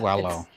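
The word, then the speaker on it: Paulo: So that was, I always say his name wrong. Paolo. It's Wallow.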